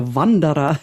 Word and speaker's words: Wanderer: to record the introductions i kept saying the vandara which is how you'd pronounce it in german this is why it's